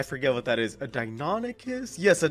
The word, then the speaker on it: Deinonychus: And by the way, you guys, that's actually how you say it. I remember I had to Google it the first time. I thought it was Deinonychus, but it's actually Deinonychus.